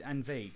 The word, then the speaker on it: Envade: I pronounce it at least. Just invade, yeah, the arcade Yeah. plus envelope. Yeah, it's envelope and arcade, a portmanteau.